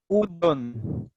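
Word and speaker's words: うどん: उदन। तो इस ऊ के आगे कोई भी लेटर नहीं, इसलिए उसका प्रोनाउंसिएशन प्रॉपर ऊ होगा, उदन।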